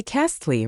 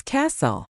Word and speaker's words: castle: Think of the word castle. You don't say castly, right? It's castle.